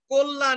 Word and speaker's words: কল্যাণ: এখানে আবার কল্যাণ, কতে, কতে যে অ আছে এটার উচ্চারণ কি হয়ে যাচ্ছে? ও হয়ে যাচ্ছে। তোমরা তো জানোই এটা, যে অ এর উচ্চারণ বিবৃত হয়ে যাবে যদি জফলা থাকে। অ ধ্বনির পরে যদি জফলা যুক্ত ব্যঞ্জন বর্ণ থাকে তাহলে অ এর উচ্চারণ বিবৃত বা ও এর মতো হয়।